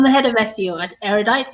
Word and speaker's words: Erudite: Is that the right way of pronouncing it, Miracle? Erudite. Erudite, yeah, Erudite.